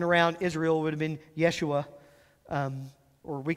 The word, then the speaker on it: Yeshua: Israel would have been Yeshua um or we call it Joshua but they didn't have a j sound in Hebrew so they said Yeshua that would have been